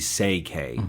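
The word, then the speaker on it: Székely: And I said, actually, you say it CK. It's actually say K, but that sounds queer.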